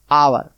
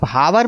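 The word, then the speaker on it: hour: एच ओ यू आर अब इस शब्द में देखिए एच ओ यू आर लिखा है चच से लोग समझ जाते हैं हा पढ़ा जाएगा लेकिन ऐसा नहीं है आप लोग ऐसा गलती मत करना यह लिखा है हावर क्या लिखा है हावर लेकिन पढ़ा क्या जाता है इंग्लिश आवर ववर मीस घंटा कभी आप हावर मत पढ़ना एच लिखा है तो हावर ववर पढ़ देंगे यह गलत हो जाएगा ये शब्द पर ध्यान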